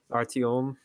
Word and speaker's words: Artyom: character's name are calm uh no not really Artyom oh yeah that is that is the pronounciation introduce you guys Metro the first one